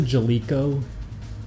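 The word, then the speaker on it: Jaleco: to even stay on do people pronounce a jelo because I always hear people say jelo and I always say jalco because whenever a game started up they had the Japanese guy going jalco I thought that's how he pronounce it because that's how he says it I like their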